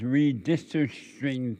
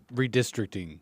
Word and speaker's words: redistricting: And now that they're doing this redistricing thing, am I saying it right, Nate? Redistricting.